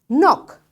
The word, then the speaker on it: knock: when k is silent k is silent when n follows it like after k if you find n you will not say k k will be silent